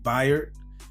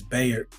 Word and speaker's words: Bayard: think it's I think he pronounced his first name berer even though it looks like it says Bayer but ber Rustin he was very